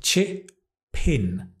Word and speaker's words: chip in: with some good ideas notice the pronunciation can I chip pin can I chip in grade or he chip